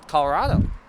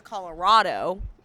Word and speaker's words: Colorado: somebody says Colorado, you can tell that they're not from Colorado. Because you got to put the rad in Colorado.